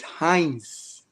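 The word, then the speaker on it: Heinz: my name tonight correctly it is Hines oh Hines yeah I'm always saying H okay so H the i n and the z h h e i n z yeah it's German it's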